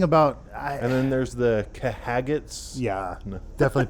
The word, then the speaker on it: Khajiit: And then there's the Kahagats. Yeah, No. definitely pronounced like that. Although I find it funny Khajiit.